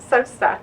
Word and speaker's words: Sosa: of mine and a very special guest, Sosa. Hi. Did I say it correctly? You Sosa. did. Sosa.